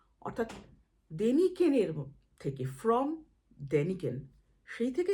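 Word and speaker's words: Däniken: ছিলেন আমি সে ব্যাপারে বলতে চাচ্ছি না অর্থাৎ দেনিকেনের থেকে ফ্রম দেনিকেন সেই থেকে এদের পদবী হয়ে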